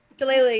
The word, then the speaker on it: Shillelagh: Shalala. Shillelagh, yeah.